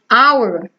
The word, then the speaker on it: hour: Hour, hour, hour, certo? Não pronuncia-se o H.